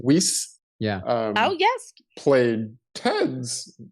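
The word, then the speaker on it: Wiest: Weiss.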